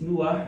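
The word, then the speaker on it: נח: In Hebrew, it's Nuah. In English, it's pronounced as Noah.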